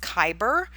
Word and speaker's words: Khyber: It's pronounced Khyber, so it's the Khyber Pass through the Hindu Kush Mountains.